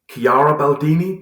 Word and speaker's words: Chiara Baldini: Thank you very much, Chiara Baldini. Did I pronounce that right?